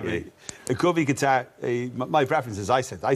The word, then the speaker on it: Qatar: It's Qatar. It's Qatar.